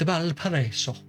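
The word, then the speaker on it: Valparaíso: It's Valparaiso.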